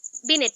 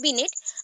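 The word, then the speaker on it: Binet: बिनेट ने। और बीने बोला जाता है, actually spelling wise is बिनेट, but pronunciation is बीने।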